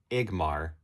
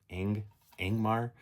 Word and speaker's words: Ingmar: And because I feel like I always grew up saying it Igmar, but that N is there. So Ingmar.